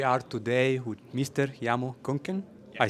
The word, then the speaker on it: Köhnke: Jermo Köhnke. Yeah. I say it right? Köhnke.